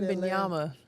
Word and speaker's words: Wembanyama: Wembanyama.